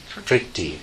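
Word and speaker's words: prīti: When I see it written, it's PR.TI. Anybody know how you pronounce it? Pritti. Okay.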